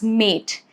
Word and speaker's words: mate: Now mat becomes mate. Over here, mat, A has a short sound. But when you attach letter E to it, it becomes mate. And now it is actually pronounced as letter A.